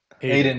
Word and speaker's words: Eidan: Is your name pronounced Eidan or Eidan? Both are equally wrong, but equally okay. What's correct? The first one is good. The first one's good. Eidan is good.